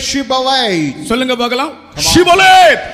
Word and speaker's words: Shibboleth: ஷிபோலேத், Shibboleth. இப்போ நீங்கள் ஒரு காலம் சிபோலேத் என்று சொல்லக்கூடாது. அது அவர்களுக்கு அந்த எப்பிராயிமருக்கு இந்த ப்ரொனன்சியேஷன் வராது, உச்சரிக்க முடியும்.